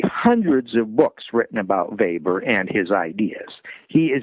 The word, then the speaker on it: Weber: introduced by a guy named Max Weber it's spelled like Weber w-e-b-e-r but it's pronounced Weber he was German and